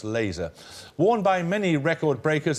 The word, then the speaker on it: LZR: guess s YN no it was lzr usually pronounce laser worn by many record